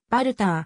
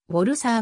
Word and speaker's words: Walther: 弾モデルであるドイツ語でのヴァルターの発音はヴァルターん英語ではボルさあが近い日本の重機関係